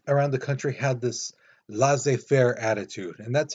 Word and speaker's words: laissez-faire: The other thing is, though, citizens around the country had this laissez-faire attitude, and that's how you pronounce it, laissez-faire.